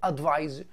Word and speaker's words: advise: طبعا هنا عندي بالسي تتنطق advice وهنا بالاس تتنطق advise.